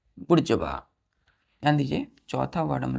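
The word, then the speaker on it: bourgeois: बी ओ ओ आर जड एच ए डब्लू बुर् जवा क्या पढ़ते हैं बुड जवा तो इसका हम प्रशन क्या करते हैं बुर् जवा कितने लेटर है इसमें नट 3 4 5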